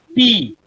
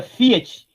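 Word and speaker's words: φ: Alguns professores de grego leem Pi. Por exemplo, piolosofia, né? Em vez de filosofia, filosofia. Eu acho horrível essa pronúncia. Mas provavelmente ela é uma pronúncia do ático, ou seja, ela é uma pronúncia do grego clássico, antes do koiné. No koiné é Fi mesmo.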